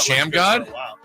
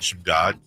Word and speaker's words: Shamgod: God Sham God? Great also a coach. basketball move named after him. Yes. His own move. It's actually, all these years, it's actually pronounced God Shamgod. Shamgod? Shamgod, yeah.